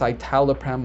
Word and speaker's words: Citalopram: All right, so for number 37, Citalopram. I've heard it pronounced Citalopram as well, but Citalopram sounds good to me.